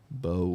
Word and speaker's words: Bove: There's an E at the end of his name, so we got to pronounce the vowel. Bove.